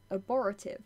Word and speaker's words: abortive: Abortive. Unsuccessful because done too soon. Oh, abortive. My bad. That's how that's pronounced.